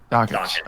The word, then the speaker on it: Dakich: Dakich.